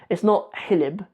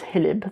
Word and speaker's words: hilib: It's not hilib in Somali, it's hilib. There's no ha at the beginning. It's not spelled with an X. It's spelled hilib.